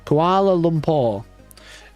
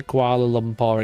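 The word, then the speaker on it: Kuala Lumpur: Say Koala Lumpur again. Am I saying it wrong? Koala Limpo. I'm saying it almost right.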